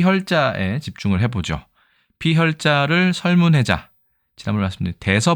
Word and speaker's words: 血: 모양을 그렸다라고 되어 있습니다 그 다음에 발음은 호결 반절법을 사용한다 호라는 것은 성모죠 히읗을